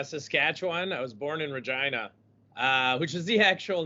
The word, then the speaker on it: Regina: to pronounce virginia so it is it is pronounced regina so i'm from vagina saskatchewan i started doing